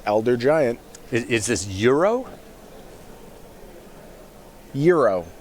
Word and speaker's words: Uro: Euro, I believe it's pronounced, like the sandwich.